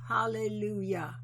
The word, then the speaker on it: hallelujah: And coming full circle, the J sound you hear in the word hallelujah is pronounced hallelujah.